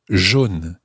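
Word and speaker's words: jaunes: you've guessed it it's john as well j-a-u-n-e-s john and the same happens with roger roger r-o-u-g-e-s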